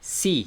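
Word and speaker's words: sie: una mujer ella sería si si recuerden no se pronuncia la e porque es la regla de la i y luego la e una I larga si y para cuando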